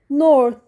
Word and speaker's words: north: ساوث بتتنطق س جنوبي ذرن بتتنطق ذ شمال نورث بتتنطق ث شمالي نورذرن بتتنطق ده